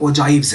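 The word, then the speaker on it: ogive: ये ओगिव्स नहीं है, अक्सर यहाँ पे होता है जी ओगिव्स ओगिव्स, तो ओगिव्स नहीं है, ये ओजाइव्स है। इसकी जो राइट प्रोनाउंसिएशन है वो है ओजाइव, ओजाइव।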